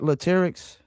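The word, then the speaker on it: Latyrx: So, did I pronounce that name, the group name right with lyrics? Is that Latics? That you did pronounce it right, which is not everybody don't do that, but yeah, you did.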